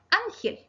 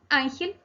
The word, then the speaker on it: ángel: Ángel. Ángel es también una palabra grave. En este caso sí lleva tilde. ¿Saben por qué? Porque termina en la consonante L.